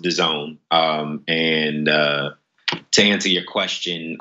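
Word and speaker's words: DAZN: is gonna buy into dasn't or is it gonna take a while well I believe it's pronounced 'da zone and to answer your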